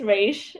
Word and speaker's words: Reish: Reish? I said it right? That's You almost got it. It's Reish.